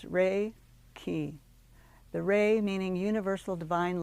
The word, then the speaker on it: Reiki: where Hands-On healing starts Reiki is pronounced Ray key the ray meaning Universal Divine Life Energy and key meaning life force thus Reiki is a spiritually guided life force energy while raiki is spiritual in nature